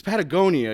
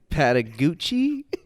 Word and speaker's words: Patagonia: over at Iguchi it's Patagonia you can't even read Pat Iguchi not the way it's spelled that so I know it's Patagonia patty Oh patty Gucci